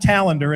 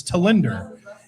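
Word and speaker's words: Tallinder: So sure enough, it's not Tallender, it's Tallender.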